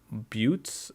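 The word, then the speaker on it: buttes: are like the mountains is that how you pronounce that butes or butt I don't think it's butts I think it's butes and then standard they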